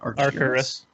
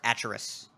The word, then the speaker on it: Acherus: Arcturus. Arcturus veteran. There's actually no R. It's Acherus.